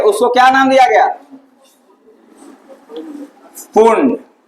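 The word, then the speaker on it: Pfund: ठीक, इससे जो किरणें निकल रही थी, ठीक है, उसको क्या नाम दिया गया, पुंड। पी रहता है स्पेलिंग में, लेकिन पी क्या रहता है, साइलेंट रहता है।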